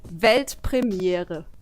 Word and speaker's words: Weltpremiere: It's actually Weltpremiere. Pretty similar, right? I think I could do that. Yeah. Do it. Weltpremiere.